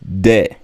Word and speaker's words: des: or feminine you use de de don't pronounce the s De so it is